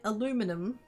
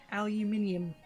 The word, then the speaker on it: aluminium: Because we don't say it aluminum. We say it as if it's got the I in it. Which it does. Aluminium.